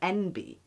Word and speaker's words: enby: Yeah, it's pretty much it's spelled ENBY, because it kind of sounds like NB, like the letters N and B.